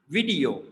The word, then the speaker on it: video: And this one is video, video, video, not like video, video. So like a yo sound in the end. So 3 syllables and video, video, video, video.